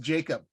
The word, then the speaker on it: Jakob: If he's healthy, South County is pronounced Jacob.